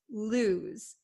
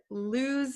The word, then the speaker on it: lose: Um so make sure you understand the pronunciation lose. Lose. It's not los and it's not loose. Okay. It's lose. Okay. This S sounds like a Z.